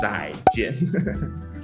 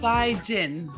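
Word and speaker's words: 再见: It's pronounced as Z-A-I, Zai. Zai. And J-E-N, Jian. No, say that again. Say it all in one. Z-A-I, Zai. And J-E-N, Jian. Zai, Jian. Zai, Jian.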